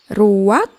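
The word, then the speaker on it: רוּחַ: bahasa ibraninya adalah ruang Ruak benar tenggorokan kita harus benar-benar bersih di akhir pengucapan jadi apa itu Ruak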